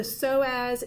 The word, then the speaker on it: psoas: The psoas is spelled with a silent P, S-O-A-S.